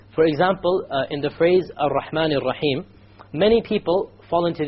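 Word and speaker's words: الرحمن: You cannot allow the tongue to roll. Ar-Rahman is a mistake. Ar-Rahman Ar-Rahim. No rolling.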